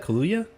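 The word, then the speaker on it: Kaluuya: do you say that kaluya like Kahlua but just with a yes that's how I thought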